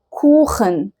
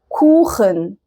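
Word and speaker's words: Kuchen: زي كلمة كوخن. كوخن.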